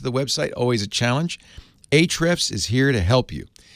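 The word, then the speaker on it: Ahrefs: spelling right so I'm gonna call it eight reps but it's spelled a href s h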